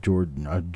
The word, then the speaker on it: Joe: Joe McBride, I'm sorry, it's not George, it's Joe.